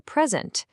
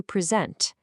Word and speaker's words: present: A gift you receive is a present, but to give a speech is to present.